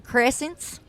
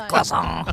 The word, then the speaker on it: croissant: come in and go, I'll have one of them crescents. Like, oh, you mean the croissant. Croissant. Are you speaking of the croissant? Like, don't pronounce any consonant.